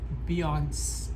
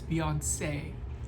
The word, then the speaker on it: Beyoncé: Without the accent on the E, you would say Beyonce. Beyonce. You would just say Beyonce, right? But you put the accent, it's Beyoncé. It's kind of like it's weird how